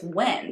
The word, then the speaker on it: Nguyen: And like it's Win, that's how you pronounce that.